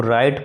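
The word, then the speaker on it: write: इसको नहीं पढ़ने हैं इसको राइट पढ़ेंगे इसमें डब्लू साइलेंट है और यह आपका और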